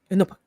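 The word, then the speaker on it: Iñupiaq: Inupiaq. But it's like Inupiaq. Inupiaq. That's how they say it. They say it like really fast.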